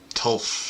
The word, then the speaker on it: Tafl: Now, admittedly, I've heard this pronounced Tafl and Tulf and all sorts of things, so I'm just going to call it Tafl because I like that pronunciation.